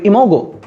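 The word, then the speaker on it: imago: আর ঘাসফরিং স্বাধীনজীবী পরিণত অবস্থার নামটা হচ্ছে ইম বা ইমাগো। মূলত ইমাগো। আমি একটু উচ্চারণ করি ইমোগো। ওকে? উচ্চারণ হচ্ছে ইমাগো।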